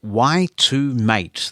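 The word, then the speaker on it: y2mate: use a website called y to mate that is spelled Y and the number two and then mate mate the nice thing about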